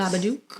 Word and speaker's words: Babadook: It's Babadook.